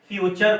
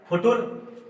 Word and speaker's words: फ्यूचर: तो पता चला इसको हम फ्यूचर पढ़ते हैं। फ्यूचर, अगर टी यू को च ना माना जाए तो एफ यू फू, टी यू टू, आर ई फुटुर। ऐसा तो नहीं है।